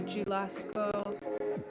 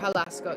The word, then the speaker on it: Jalisco: It looks like to Jalisco or Jalisco. Yeah, there's no J pronunciation. I should know that. My husband speaks Spanish and I'm trying to practice too. Jalisco.